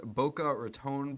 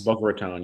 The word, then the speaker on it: Boca Raton: Uh the Bush's Bokeh Ronbo Bowl. I believe that's how you say it. No. Yes. Boca Raton.